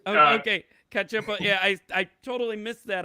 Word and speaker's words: Cacioppo: And so the first song there was by Kurt Cacioppo. Is that how you say it, Bruce? That's correct. Oh, okay. Cacioppo.